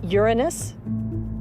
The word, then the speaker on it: Uranus: I pronounce the planet's name Uranus.